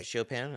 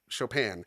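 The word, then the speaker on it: Chopin: This is his response to uh her piece Nocturn in a flat from Shopan or Chop. Why do I keep saying it that way? Shopan. I don't know. Because it's spelled chopping.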